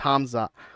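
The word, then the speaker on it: Khamzat: It's Hamzat. The K is silent, like how Brendan said. Don't pronounce the K.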